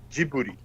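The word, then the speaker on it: Ghibli: Although the Italian word is accurately transliterated in Japanese as and I'm reading it from katakana gibbururi with a hard g the studio name is actually written in spoken Japanese as giuri with yeah the katakana ji bu you go excellent excellent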